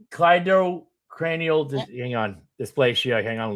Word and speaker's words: cleidocranial: I never pronounce it right. Yes, it's cleidocranial.